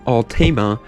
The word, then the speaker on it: Altima: cute it's the Nissan Altima coupe that's actually how you're supposed to pronounce it everybody's going around there saying Tima wrong tell them they're wrong